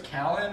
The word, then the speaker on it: Callen: So it's Callan or Callen? How do you? That's how you say it. Kalen?